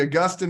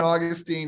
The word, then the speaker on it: Augustine: yeah uh we've got the Augustine Augustine I I try to explain just so you don't add characters I like that yes well it's how it's said in uh Oxford and Cambridge and therefore okay well